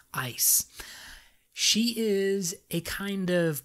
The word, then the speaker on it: Ais: gonna say her name i've been saying it ice a-i-s ice she is a kind